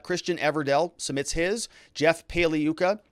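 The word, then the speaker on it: Pagliuca: everdell submits his jeff paliyuca g is silent like lasagna he submits his and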